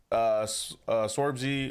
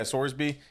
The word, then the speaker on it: Sorsby: I mean, obviously they competed with Nebraska, and Sorbsby, or how you pronounce it? Brennan Sorsby. Yeah, Sorsby.